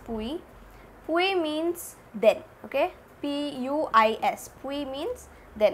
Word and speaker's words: puis: Puis means then, okay, P-U-I-S, puis means then, it's pronounced as puis, okay.